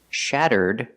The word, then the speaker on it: shattered: If I change the verb to past, shattered, you you hear a D sound at the end.